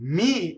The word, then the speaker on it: mi: Okay, mi is a weak monosyllable. It does not double.